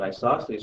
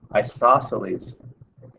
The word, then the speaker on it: isosceles: In an isosceles triangle, the 2 congruent sides are the legs of the isosceles triangle.